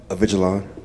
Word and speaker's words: Avigilon: Avigilon.